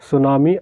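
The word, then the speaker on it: tsunami: फिर इसके बाद है वर्ल्ड सुनामी अवेयरनेस डे, ठीक है। सुनामी देखिए जो लिखा हुआ है ना, इसमें टी साइलेंट होता है, कई बार स्पेलिंग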